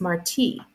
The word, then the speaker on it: Marti: It's Marti, like Jose Marti, the Cuban poet, not Marty, like Marty McFly from Back to the Future.